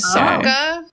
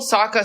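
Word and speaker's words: Sokka: Bender film adaptation as Saka as he's Saka. Yeah, they surely I knew that they pronounced it SOA in the movie for no reason.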